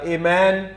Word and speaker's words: Amen: लोग इस्तेमाल करते हैं दरअसल यह इब्रानी जुबान का लफ्ज़ है और इब्रानी में इसके लिए जो लफ्ज है उसका जो फोनेटिक स्पेलिंग है वह है आमन सो आमन से इब्रानी से यह लफ्ज यूनानी में जो एमन आया है या इंग्लिश में भी इसको हम एमनी कहते हैं उर्दू में आमीन कहते हैं तो इसकी